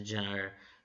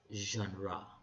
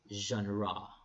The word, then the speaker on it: genre: of literature okay people pronounce this genre others gender but it's pronounced as genre say genre genre okay so the different genre of literature